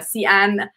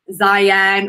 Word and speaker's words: Xi'an: the name as like zion or zhiyan uh so just a bit of an fyi in chinese the x the letter x is more of a sh sound uh rather than a z sound so anyway chinese lesson